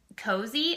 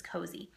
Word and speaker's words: Cozi: So the 3 that I use is Cozy. I think that's how you pronounce it, is Cozy.